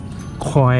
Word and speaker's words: คอยล์: เดี๋ยว เรา จะ ถอด คอยล์ นะ ครับ ผม เรา จะ ถอด สาย ไฟ คอยล์ คอยล์ หัว เทียน ครับ เรียก ชื่อ ให้ ถูก นะ ครับ มัน คอย นะ ครับ อย่า ออก เสียง ผิด ครับ ก็ ถอด ปลั๊ก